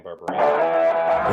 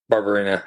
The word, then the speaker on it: Barberena: Bam Bam Barberena.